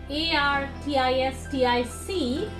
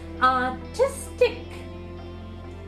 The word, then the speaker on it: artistic: So it is 3 syllables there, and whenever we have IC ending words, if you count from the right hand side, the second syllable from the right will be told more strongly.